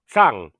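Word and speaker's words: Cang: oh no hold on the last name is actually Tang so the c a n g is pronounced with a th at at the first that's okay with you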